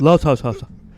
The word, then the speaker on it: Los Osos: I would say another highlight was our family trip with Jimmer and Grace to Los Osos. Los Osos. Los Osos. Did I say it like that? Los Osos.